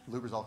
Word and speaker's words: Lubrizol: He was also been with Lubrizol. Did I pronounce that right? Lubrizol Corporation, yep.